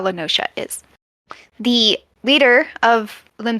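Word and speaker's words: La Noscea: no that is not how I would have pronounced that word yeah it's lenosha very it's like a tropical kind of beachy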